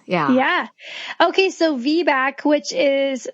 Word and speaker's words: VBAC: the myths of V yeah yeah okay so vack which is spelled VB a a lot of people want